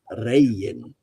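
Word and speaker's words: Regin: It's actually pronounced rayan.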